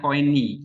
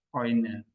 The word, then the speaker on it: Koine: Jadi kalau modern Greek bacanya Koini, gitu, ya. Tapi kalau Greek yang zaman dulu tuh bacanya Koine, ya, Koine.